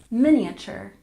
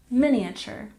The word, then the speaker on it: miniature: 13 we have miniature we stress the first syllable miniature miniature we don't say miniature that sounds sounds strange we pronounce it like this miniature miniature for example my sister